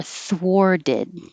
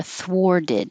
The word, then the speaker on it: thwarted: like his plans were thwarted like uh destroyed something was stopped his plans were thwarted and then that t changes to a d overwork overworked and again